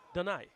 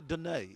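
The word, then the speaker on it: Donaie: Did I pronounce it wrong? Donai. Donai. Yeah. Oh, St. Lucian. Oh, so we can't say Dunai.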